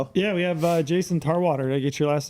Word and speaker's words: Tarwater: It gets butchered a lot, believe it or not. Really? I'm like just like it sounds.